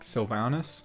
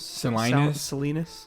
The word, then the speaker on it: Salinas: california and and it it's like sylvanas how do you say it oh silence salinas salinas that that's the non-native californians we apologize this is